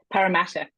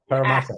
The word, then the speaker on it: Parramatta: Parramatta. Parramatta. More of a hard A. Parramatta. Parramatta. And you often, blur the T. So often Australians will pronounce the T as a D.